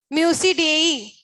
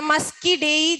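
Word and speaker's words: Muscidae: सो म्यूसिडेई या मस्कीडेई, pronunciation can be different, या म्यूजिक से याद रख सकते हो तुम इसको, म्यूसिडेई या म्यूजिक, काफी हद तक सिमिलर है।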